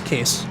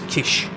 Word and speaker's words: Kish: I know it says Kiss, but he did say to me it's Kish. So it's not me just ignoring what his name is. That's how he's said, that's how to pronounce it.